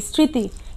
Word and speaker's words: স্মৃতি: ঋ কার তরস্কার তি স্মৃতি কিন্তু এখানে ম ফলার উচ্চারণটি কিন্তু কি ম ফলার উচ্চারণটি এখানে আসেনি এখানে শুধু স এর উচ্চারণটা এসেছে তাহলে শিক্ষার্থীরা তোমরা প্রথম